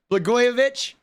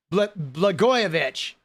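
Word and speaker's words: Blagojevich: Blgoyovich. Blegoyovich. All right. Blegoyovich. Thank you. I knew I butchered his name, but there it is.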